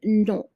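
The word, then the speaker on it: nos: If it's more than one brother, if it's more than one auntie, we will be using non. So the S is silent. It's going to be no.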